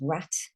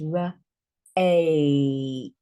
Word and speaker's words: rate: This silent E changes this vowel from the short sound to the long sound. So it no longer says rat. Certainly doesn't say ratty. It says r-8.